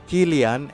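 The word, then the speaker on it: Kylian: nama pemain Berikutnya ini juga sering salah baca pronunciation yang benar dari pemain.psg ini adalah Gillian MB killian mbp mari bersama-sama killian Hai yang terakhir adalah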